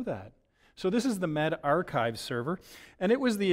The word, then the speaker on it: medRxiv: But apparently it's pronounced MedArchives. I did not know that. So this is the MedArchives server, and it was the initial publication, this preprint server, that published the recovery trial.